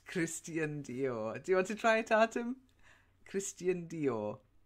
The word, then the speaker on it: Christian Dior: and who knows how to pronounced it to pronounce it Christian Dior that's it's Christian Dior did fight Adam Christian Dior yeah nothing to